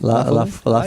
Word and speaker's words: La Folie: La Folie.